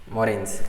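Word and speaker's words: moraines: इसको बोलते हैं मॉरेस, मॉरेन्स, ठीक है। अब ये मॉरेन्स क्या होते हैं? सर मॉरेन्स कुछ नहीं होता है, सेडिमेंट्स होता है जो ग्लेशियर अपने साथ लेके आते हैं।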